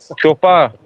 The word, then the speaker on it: Chopard: Yeah, but D is silent, Mikey. What? Chopard.